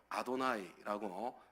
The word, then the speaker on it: 아도나이: 여호와라고 발음하지 않고 아도나이라고 발음하고 읽었습니다.